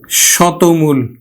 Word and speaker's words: শতমূল: এর মত উচ্চারণ হবে যেমন দেখো লিখলাম শতমূল শত মূল আমরা উচ্চারণ করবো কিন্তু স এই দেখো ত এর পরে দীর্ঘ উকার আছে তার মানে ত টা উকার হয়ে যাবে শত শতমূল আমরা উচ্চারণ করলাম কিন্তু শতমূল এখন দেখো